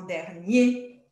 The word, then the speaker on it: dernier: Oui, là, on prononce hier, mais si c'est au masculin ou quand c'est un adverbe, on va dire en particulier ou particulièrement, en premier, en dernier.